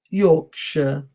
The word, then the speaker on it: Yorkshire: Gloucester, Leicester, Worcester, Worcestershire, Yorkshire. Okay. So this just to demonstrate to you how difficult English pronunciation is, and it's always good to do